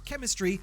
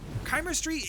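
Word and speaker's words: Chimerstry: is chemistry now I would forgive you for pronouncing it chemistry because that's how I wanted to read it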